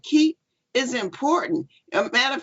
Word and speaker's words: Keap: And it's spelled KEAP because you can keep everything all in one place. So that's how you can remember keep.